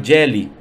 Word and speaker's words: Geely: Mercedes e 50% da Jelly ou gilly como eles falam né algumas questões que